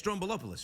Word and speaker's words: Stroumboulopoulos: It's Stroumboulopoulos, right?